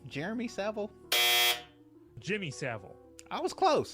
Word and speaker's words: Jimmy Savile: kid rape henry what's his name jeremy seville jimmy savile i was close jimmy several jimmy savile like i said he kind of